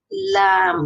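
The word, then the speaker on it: ل: জিহ্বার অগ্রভাগ সামনের সানায়া থেকে দওয়াহিক পর্যন্ত সবকটা দাঁতের গোড়ালির সঙ্গে লাগিয়ে উচ্চারিত হবে লাম।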